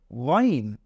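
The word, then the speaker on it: غين: একটা নুক্তা লাগিয়ে দেই তাহলে এটা হয়ে যাবে গাইন এটা হয়ে যাবে গাইন তাহলে প্রথমে আমরা পড়লাম আইন এরপরে এখন পড়ছি গাইন আমরা আবারো পড়ি আইন আমরা আবারো পড়ি আইন এরপরে আমরা পড়বো গাইন আমরা আবারো পড়ি গাইন আলহামদুলিল্লাহ আমরা আইন এবং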